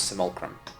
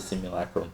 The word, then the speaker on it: simulacrum: simulcrum so it's a simulchrome of his interesting is that like a simulacrum everywhere i've gotta pronounce the simulacrum but the other place i've heard it pronounced like anything is simulacrum yes thank you i suppose i'm leaving the wrong emphasis emphasis on the wrong syllabus we all know about